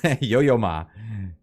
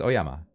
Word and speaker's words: Oyama: um the the kanji for that also is pronounced son yo Yama yoyoma yoyoma am I reading it wrong no it's oyama uh yoyoma oama is just North of Lake